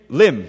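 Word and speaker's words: limn: I'm sorry the word him him Lim yes I'm sorry l i MN means to describe it's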